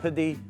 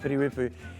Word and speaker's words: Piri Weepu: Not Piri, not Pidi, but Piri Weepu.